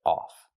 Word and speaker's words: off: Not of, but off.